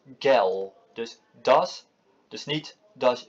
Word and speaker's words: Gel: De G, zoals bij ons, wordt totaal op zijn Duits totaal anders uitgesproken in dit woord. Waar wij dus gel zeggen, zeggen ze op zijn Duits gel.